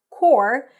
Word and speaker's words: corps: like the peace core is pronounced without the p and without the S groping is to feel